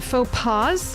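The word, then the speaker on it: faux pas: Final s is not pronounced. No, I know. I was making a pun. Faux paw like p a ws.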